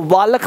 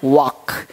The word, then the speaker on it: walk: आज भी देखता हूँ इसको वालक पढ़ लेता है, वाल्क, वाल्क, वाल्क नहीं पढ़ना है, वाक, वाक, यानी एल क्या रहता है, साइलेंट रहता है।